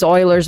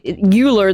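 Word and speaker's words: Euler: have to do differentiation and integration and um Oilers's method and the rungaca method for solving differential equations. s to solve first and second order differential equations like properly and then we have to use Oilers's method which everyone despite the fact that Shane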